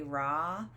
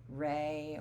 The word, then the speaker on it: Ra: was the sun god most people say raw but a lot of historians think it really should be said more rey or spell that re there's not one right way but i will say your book likes the re way um and he's a